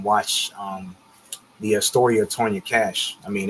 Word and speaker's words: Kach: The Tanya Cash story. And remember, Cash is spelled Kach.